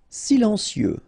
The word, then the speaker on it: silencieux: Silencieux. Final X not pronounced.